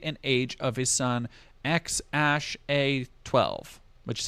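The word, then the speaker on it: X Æ A-12: actual birth date and age of his son X Ash a12 which is how you pronounce that other deleted tweets are for the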